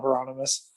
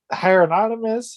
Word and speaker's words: Hieronymus: it's really funny because people can never say it right the first time unless you're if you're a big footer then you kind of know how to say it because of bob hieronymus but sometimes people will like hire anonymous hair hieropotamus hippopotamus it's pretty funny so just